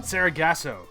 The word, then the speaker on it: Sargasso: How do you pronounce the name of the episode? The next week? Ghosts of Sargasso? Sargasso.